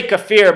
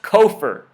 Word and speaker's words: kafir: I always say kafir, but somebody told me that this word is pronounced kofir, so maybe it's kofir.